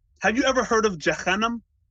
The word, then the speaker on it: Jahannam: Well, I think the way you pronounced it is probably closer to the actual Arabic pronunciation.